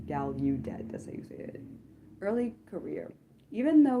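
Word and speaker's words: Gallaudet: Um, he then went on to earn his degree in mathematics from Galedet University. I should say Galudet.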